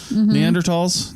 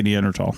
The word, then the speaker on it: Neanderthal: talking about the people neander tals you say neander tall oh so so like